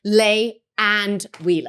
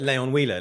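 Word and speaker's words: Lay & Wheeler: around for 174 years L and or Layon leay lay and Wheeler Oh I thought it was like leay on Wheeler like you know going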